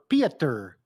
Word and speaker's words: Pieter: What's your cousin and is it pronounced Peter or Pieter? Pieter.